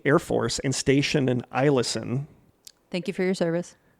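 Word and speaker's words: Eielson: force and stationed in ilsen thank you for your service yeah she says it looks like ellison but she said the first e is pronounced as an i so i listen back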